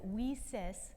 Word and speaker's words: WiCyS: So we often go by our acronym WICYS, and it's spelled WICYS, and we pronounce it WICYS like we sisters because we're a global cyber sisterhood.